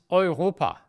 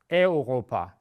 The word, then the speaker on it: Europa: The continent, England, Germany, Ukraine, Italy is Europa. It's not Europa. It's also not Europe, Europa.